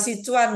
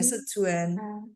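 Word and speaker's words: Sichuan: pernah makan masakan sejuan bacanya bukan si Cuan ya tulisnya si s i CH h u a nanya sejuan itu pedas tapi mau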